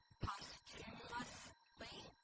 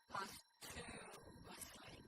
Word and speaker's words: posthumously: The terms we are looking at today are posthumously or posthumously. You can pronounce it either way.